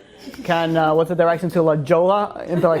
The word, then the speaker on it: La Jolla: Like the whole silent letters, I didn't really. It's L-A-J-O-L-L-A. J-O-L-L-A. But it's not silent. It's Spanish. It's Spanish, so it's yeah.